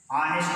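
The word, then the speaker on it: honest: European ऑनेस्ट है, जैसे आप पढ़ेंगे ऑनेस्ट मैन, ऑनेस्ट मैन। भले ही ऑनेस्ट जो वर्ड है उसकी पहले स्पेलिंग यच है, लेकिन उसका उच्चारण, इस वर्ड का उच्चारण आ से हो रहा है, आ से हो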